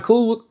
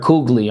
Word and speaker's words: Coogler: But I want to talk about basically, I didn't know Ryan Coogler. I think I said it wrong last time. That's why I'm trying to correct myself. But because I heard Coogly online, unless they was wrong.